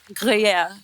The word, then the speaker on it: Gruyère: Jacqueline ने pronounce it. Jacqueline क्या नाम है इसका? Gruer. Chateau de Chateau? Gruyère.